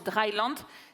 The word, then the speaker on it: Dryland: il y a une idée qui Pardon, je l'ai prononcé à l'anglaise, alors qu'évidemment c'est Dryland.